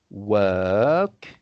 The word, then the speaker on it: work: you need to pronounce the word work as though Work. it's written instead of the O, you pretend it's written with a E. You see the letter E. So you would pronounce it a bit like perk, work.